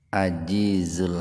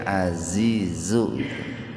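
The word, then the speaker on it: عزيز: Kayak innallahal ajizul hakim itu kalau hanya dibacanya ajizu itu salah besar itu, karena nanti artinya sesungguhnya Allah itu sangat lemah gitu, Pak. Kalau jim za ajizu, nah harusnya azizu zai gitu.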